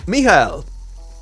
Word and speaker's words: Michael: Michael. And yes, that is how you pronounce his name, cause German.